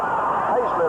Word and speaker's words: Hazlett: Hazlett, I understand, is the way they pronounce it.